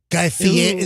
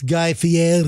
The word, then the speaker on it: Guy Fieri: Guy Fieri. You got to say the name right. It's Guy Fieri.